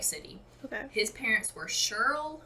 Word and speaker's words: Shirl: okay his parents were shirl i think that's how you pronounce it cheryl it's a man's name cheryl s h i r l i've heard it